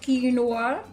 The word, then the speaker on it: quinoa: to make yet another quinoa dish yes it's pronounced quinoa and before i go please subscribe like share